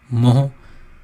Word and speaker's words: MHO: ये स्पेलिंग लिखी हुई है OHM, इसका उल्टा MHO, मोह।